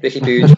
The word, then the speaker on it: Riqui Puig: Anyway, tell your mates that's how you say it, Riqui Puig.